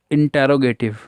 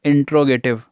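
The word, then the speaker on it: interrogative: बात कर रहे हैं, इंटेरोगेटिव। कई बार इसे हम बोलते हैं इंट्रोगेटिव, तो सही प्रोनाउंसिएशन इंटेरोगेटिव है।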